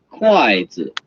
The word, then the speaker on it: 筷子: Chinese it's 一双 the fourth tone and the first tone 一双 chopsticks in Chinese it's 筷子 the fourth tone and the light tone 筷子 so a pair of